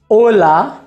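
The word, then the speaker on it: hola: इसका ये मतलब है कि कोई भी शब्द अगर आचे से शुरू होता है तो हम वहाँ पर आचे का उच्चारण नहीं करेंगे। उदाहरण के लिए ओला, जिसका मतलब होता है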